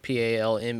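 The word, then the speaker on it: Palme: pal they also don't call it Palm the way that they spell it P a l m e they just call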